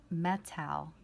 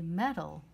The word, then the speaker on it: metal: l in it metal notice how we do not say metal which would be an a sound we just say metal naturally notice that that a is actually a short u sound that represents a schwa we would write metal